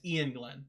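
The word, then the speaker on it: Iain Glen: I love him as an actor, but I never know how to pronounce his name. It's Ian Glenn.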